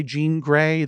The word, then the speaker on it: Jean Grae: book in my remaining years yes uh by Gan gray that's spelled g r a e Gan is spelled